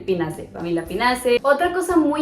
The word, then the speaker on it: Pinaceae: También pasa con las plantas, por ejemplo, la familia Pinaceae se escribe Pinaceae, pero solo dices Pinaceae, como si no existiera la A.